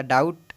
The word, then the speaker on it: doubt: अब जैसे देखिए यहाँ पर डाउट, अब यहाँ पर डाउट देख रहे होइएगा, डाउट DOUBT होता है, बी यहाँ पर साइलेंट होता है।